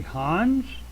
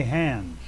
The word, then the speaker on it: Hans: on your particular desire this can be Hans which is probably what it is in the original language or you can say hands okay but uh let's